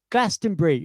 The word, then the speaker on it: Glastonbury: And the guy went quite loudly, obviously, over the top of a gig, went, "Oh, God, it's Glastonbury. It's 3 syllables. Why can't people get this right?"